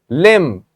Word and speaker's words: limb: Limb, the letter B is silent so as it is in right.